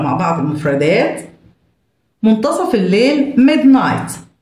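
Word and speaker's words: midnight: بعض المفردات منتصف الليل ميد نايت ميد نايت الج اتش سايلنت ميد نايت تاريخ اليوم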